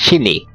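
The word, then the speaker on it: しに: Angka 42 dilafalkan sebagai shini dalam bahasa Jepang yang mirip dengan pelafalan mati, sedangkan angka 49 adalah shiku yang artinya ditabrak.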